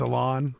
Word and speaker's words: Alan: I was over at Sporting today for their press conference for Alan Pulido, their new striker. Was it? It's Alon. Alon Pulido. I believe it's pronounced Alon.